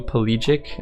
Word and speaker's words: pelagic: My favorite song is Blue Pelagic, I think is how you say it.